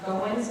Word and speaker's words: Goins: It's actually pronounced Goins, but that's okay.